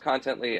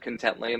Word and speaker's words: Contently: it pronounced contently is that uh originally it's pronounced contently everyone said content Lane that's friendlier so that's what we went with